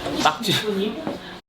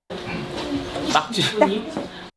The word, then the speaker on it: 낙지: On va les prononcer ensemble. Le premier jeu, répétons après Han. 낙지. Takchi. 낙지.